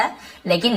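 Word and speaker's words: whole: दिया, द होल हट, होल W silent होता है लेकिन लिखते जरूर है, होल बस पढ़ेंगे, होल हट यानी पूरी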